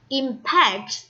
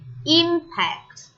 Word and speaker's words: impact: no preposition at all impact is a verb and the second syllable is rest but when is a noun you will say impact with the stress on the first syllable and you can and